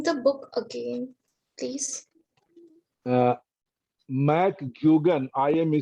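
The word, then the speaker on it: Mc: name the book again mack please i am spelling it out you write capital m is small c that is pronounced as mac so do not write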